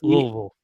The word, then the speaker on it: Louisville: I'm from Louisville, or I heart Louisville.